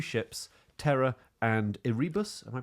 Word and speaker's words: Erebus: And this expedition went out, the Franklin expedition, 2 ships, Terra and Erebus. Am I pronouncing that right? Erebus, I think it is, yeah.